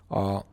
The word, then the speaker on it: ha: So we already are way into the conjugation. Now what is she has time? She has. It's not o, it's not I, it's a. A. Again, it's written H-A, but pronounced a.